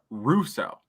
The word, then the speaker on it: Rousseau: announcers pronounced it as Russo. They put the emphasis on the Ru as opposed to the so.